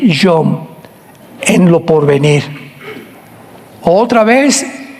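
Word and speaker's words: יום: Postreros es acharit, así como suena con CH, se pronuncia acharit, acharit. Y tiempos o días son yom, Y-O-M de mamá.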